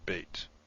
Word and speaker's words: Beit: The Beit without the Dagesh is pronounced V, V, as in V. So you could say Veit, I suppose, while this is B, as in Beit.